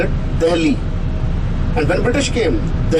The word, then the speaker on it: Delhi: the hell we was a little difficult to pronounce so they started instead of saying the lv they call it delhi and when british came the heli was not